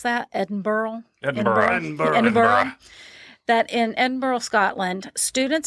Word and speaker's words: Edinburgh: Says that, and how do you pronounce that? Edinburgh? Edinburgh.